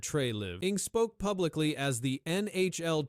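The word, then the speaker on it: Treliving: Brad Trey Living, pronounced as Brad Trey Live, spoke publicly as the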